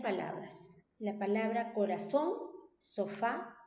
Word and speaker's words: corazón: Y es una palabra aguda porque tiene la mayor fuerza de voz en la última sílaba, ¿cierto?